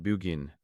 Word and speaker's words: Burgoyne: He pronounced it Bugin, which my informant used to borrow.